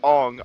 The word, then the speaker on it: Aang: Night Shyamalan, for whatever fucking reason, saw Aang and was like, "Oh no, this is pronounced Ong. I'm not stupid. You are."